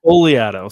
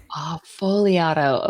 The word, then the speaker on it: Fogliato: I screw it up folato so the g is silent oh folato okay everywhere I go